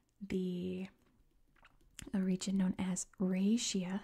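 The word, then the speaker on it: Raetia: a region known as raia at least that's how you say it in English I've heard a bunch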